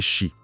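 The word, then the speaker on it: sí: C'était surtout pour les chis. Les chis. Oui, S-I, accent aigu, prononcé chi.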